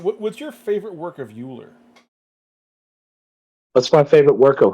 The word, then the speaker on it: Euler: I legit have no idea who Mueller is. Apparently it's pronounced Euler.